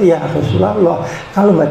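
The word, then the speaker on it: يا رسول الله: ya Rasulullah ya rosulalloh bacaannya yang benar adalah ya rosulalloh ya Rosulullah anda ikut-ikutan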